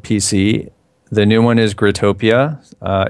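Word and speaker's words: Growtopia: gr grotopia is that how you say it grotopia grotopia yeah I just looking at the website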